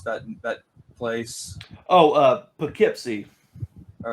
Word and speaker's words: Poughkeepsie: I'm not even sure how you pronounce that place. Oh, Poughkeepsie. All right, Poughkeepsie.